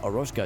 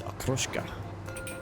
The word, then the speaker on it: okroshka: I've been saying it wrong this whole time. It's not aroshka, it's okroshka.